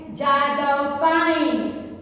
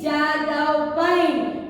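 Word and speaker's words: Jadav Payeng: Next, Jadav pine. J-A-D-A-V-P-A-Y-E-N-G. Jadav pine. Children, let's see. While we are writing, we have to write P-A-Y-E-N-G. But we have to pronounce pine only. We should not pronounce the G.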